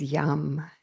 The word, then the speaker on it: yam: the Bea Mantra of the heart chakra is yam it's spelled y a m like mother this is